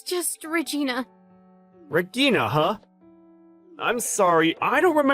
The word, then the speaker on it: Regina: How exactly do you pronounce that? Is it like Igna or, It's just Regina.